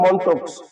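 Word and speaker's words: Mantoux: যেটাকে বলে মনক্স টেস্ট বানানটা হবে উচ্চারণ হবে মন্টক্স কিন্তু বানানটা হবে মেন্টক্স এর আরেকটা নাম আছে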